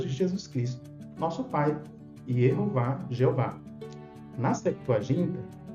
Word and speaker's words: Yehováh: mas na verdade é de conhecimento de quem estuda o hebraico bíblico massorético que está preservada a pronúncia eov claramente tem gente que